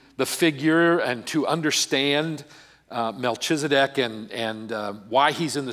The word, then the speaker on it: Melchizedek: word about the word Melchizedek. It's a CH in the middle. It can be pronounced like it's a K. It can be pronounced like it's the CH.